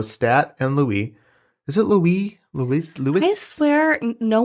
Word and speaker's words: Louis: and stuff like that I think it's pronounced that way though because it's like a French thing maybe I don't know maybe I'm gonna call him Louie because everybody does so